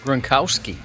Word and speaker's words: Gronkowski: Gronkowski.